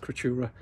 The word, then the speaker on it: Creaturae: I understand it's a bit of a thing to say in it, Moth Creaturae, but if you just pronounce it Creatura, easy enough.